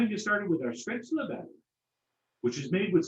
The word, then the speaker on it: Spätzle: With Spätzle, or as we Americans prefer to pronounce it, Spätzle.